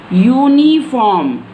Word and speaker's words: uniform: when we can't use n with you, when its pronunciation is u. For example, uniform. Now see and pay attention towards my pronunciation. What is the pronunciation of this word? Uniform.